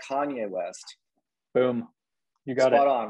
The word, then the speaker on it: Kanye West: so i'm talking about not kane west i'm talking about kanye west boom you got it